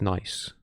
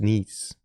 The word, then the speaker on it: Nice: Though I assume it's not pronounced nice.